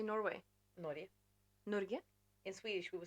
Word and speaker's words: Norge: Norge. Norge? In Swedish, we would say Norge. Norge. Yeah. So you don't say the G? No. G. No. Norge. Norge. Cool. And then in Norwegian, you would say Norge.